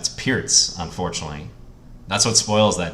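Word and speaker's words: Pirc: be that guy, like, you know, actually, it's pronounced Pearts, just so you know. I've heard you mispronounce it all the time. It's the same thing with Alekhine. If people want to pronounce it Perk, I have no problem with it.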